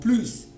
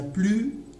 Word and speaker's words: plus: Par exemple, c'est l'hiver, il n'y a plus de fleurs dans le jardin. Alors, ici, le mot plus dans cette phrase, d'accord, on n'entend pas le son S. On entend donc la voyelle U.